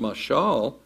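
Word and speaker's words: מָשָׁל: In Hebrew, it's pronounced mashal, and it literally means it means comparison.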